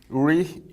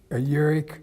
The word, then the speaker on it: Urich: Urich, how do you pronounce it? Urich. Urich. You pronounce it with a K, but spell it with an H.